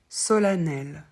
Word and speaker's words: solennel: avec E n n solanel solanelement alors le E de N qui fait a c'est déjà plus rare ça concerne principalement le mot solennel et tous les mots